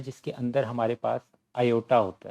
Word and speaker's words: iota: Imaginary numbers वो होते हैं जिसके अंदर हमारे पास आयोटा होता है। इसको आप इस तरह लिखते हैं, इसकी स्पेलिंग ये होते हैं IOTA, आयोटा।